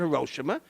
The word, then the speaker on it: Hiroshima: first atomic bomb on Hiroshima some people pronounce it hoshima uh kills maybe 100